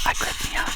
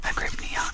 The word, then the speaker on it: agrypnia: The word is pronounced not agrypnia, yes it is, agrypnia, with a stress on the second syllable.